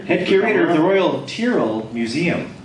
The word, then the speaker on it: Tyrrell: Head curator of the Royal Tyrrell Museum. Is that right, Tyrrell? Not Tyrrell. No. So we've all been saying it wrong for.